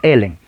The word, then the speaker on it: Ellen: En español le ponen Elena, pero realmente es Ellen. Ellen White fue el instrumento para fundar la Iglesia Adventista del Séptimo Día, ¿no?